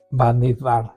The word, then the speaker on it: Bamidbar: Bamidbar, por fin ya lo pronunciamos bien, ya que vamos a cerrar, ¿no Estamos es cierto?, terminando.